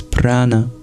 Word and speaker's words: prana: what we breathe out the most important word for breath in Sanskrit is Prana p r a or p rouble a I should say retroflex n a PR it is cognant